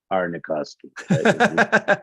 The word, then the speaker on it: Arniakowski: I just want to pronounce it one time how Aaron would pronounce it, which would be Doug A. Arnikoski. A.